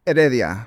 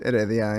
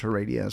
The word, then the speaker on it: Heredia: last name in Spanish uh Adia so the H is silent yeah so it's just edia and in English it's her Ria so I love it